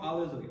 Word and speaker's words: alleluia: So biggest thing here as we finish this piece, we're building up to the climax, but make sure alle, not lay, alleluia, and lu is the accented syllable, and alleluia, so we always want to be cognizant of that as we're singing.